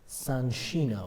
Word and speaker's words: Soncino: in the town of Soncino, and the other half was printed in the town of Casale Maggiore. I noticed that you're pronouncing it Soncino. I know, that's the correct Italian name.